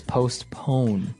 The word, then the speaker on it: postpone: now it's it's interesting because you have a p in between there so it's postpone postpone yeah it's an interesting word to pronounce okay and uh well